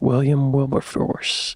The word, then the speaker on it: Wilberforce: Quakers and named it after the British abolitionist William Wilburforce.